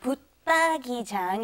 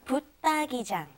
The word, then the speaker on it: 붙박이장: Okay, 옷장 is with like a D sound. This is also the same. 붙박이장 is also like a D sound underneath the 붙. Okay, so 붙박이장. 붙박이장.